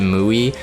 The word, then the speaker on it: Mui: initial thoughts for muy I'm gonna pronounce it muy I tried muy and and we it sounds weird but I wanted a two syllable muy she is a